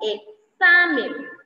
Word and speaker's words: examen: Cuando esta X está entre vocales, la pronunciación de la X es una secuencia de los fonemas K más S. Como examen, examen. Si ustedes se fijan, suena como que tengamos escrita la K y la S, pero no, chicos.